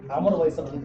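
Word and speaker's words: Amarbayasgalant: Nancy Steinhardt from University of Pennsylvania, and she will talk about Amar Vaisakh Monastery. That's the way it's supposed to be pronounced.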